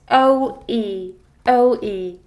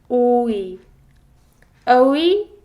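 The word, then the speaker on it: 오이: is less flexible and each vowel has its distinct and clear-cut sound it doesn't flow it just cuts so you don't drag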